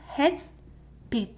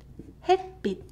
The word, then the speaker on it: 햇빛: So this is 햇빛, 햇빛. So the more correct romanization would be bit, but without t sound. Bit, 햇빛, 햇빛. That's how it's read. 햇빛, 햇빛.